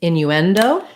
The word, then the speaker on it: innuendo: so in the word innuendo same thing third syllable stress so in you and uh we stress on the end syllable not the end not the last but the syllable that sounds like n and so it would